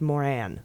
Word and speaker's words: Moran: is pronounced Bozeman and is pronounced Moran though I quite prefer a bluesman and Maura this reminds me of my childhood doctor whose name is dr.